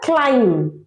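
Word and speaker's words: climb: এটা নম সেরকমই এটা ক্লাইম্ব ক্লাইম্ব না ক্লাইম্ব ক্লাইম্ব বলো আমার সাথে ক্লাইম ওগুলো একবার বলো বম নয় বম কম নাম আর বি থাকলে একসাথে সাথে বি ইজ নেভার প্রোনাউন্স বুঝতে পেরেছ তাহলে ক্লাইম্ব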